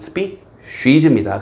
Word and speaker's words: species: species는 좀 틀린 발음. species입니다.